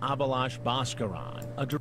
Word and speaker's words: Abhilash Bhaskaran: He's 34-year-old Abhilash Bhaskaran.